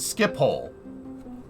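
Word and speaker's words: Schiphol: I try nordwike nordwike it's pronounced skip hole thanks I got it how did you get skippole from sch-i-p-o-l how did you get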